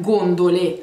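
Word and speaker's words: gondole: например гондолой гондолы и неправильное здесь ударения вот по-русски называются наверное гондолы но мы их называем голым дули во-первых гондоле они гондоле потому что множественное число пасту гои и 1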